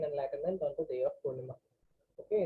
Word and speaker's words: Purnima: on the day of Purnima. Okay, in the south it is known as Purnami, but that's how you spell it.